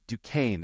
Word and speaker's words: Duquesne: But can I ask you, it's spelled, and for the listeners, I'm not making this up, Duquesne, and you get Duquesne out of that. That's correct. And that is of French origin.